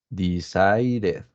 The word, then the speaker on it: decided: But for example, in this word, decided, we have to pronounce the letter E, yeah, decided.